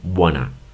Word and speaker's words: wanna: En lugar de decir want to, ellos, como lo dicen rápido, solamente lo dicen wanna.